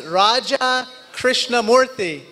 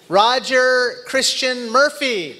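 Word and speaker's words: Raja Krishnamoorthi: in Illinois I said hi my name is Raja krishnamurthy and the person in Chicago looked right back at me and said Roger Christian Murphy it's very nice to meet you and then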